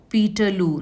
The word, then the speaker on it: Peterloo: Now, they were suppressed brutally in what came to be known as Peterloo. Now, this was rhyming with Waterloo, where the French army of Napoleon Bonaparte was defeated by Nelson in Waterloo in 1815.